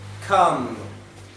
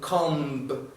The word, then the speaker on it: comb: Nesse caso daqui, a gente tende a pronunciar o B de maneira muito forte, falando comb. Mas isso não é correto. Por qual razão? Em inglês existem umas letras chamadas de silent letters, ou letras silenciosas, onde, apesar de existirem na palavra, não são pronunciadas. Então isso daqui é um caso, você fala a come. Okay? Então, nada de pronunciar comb.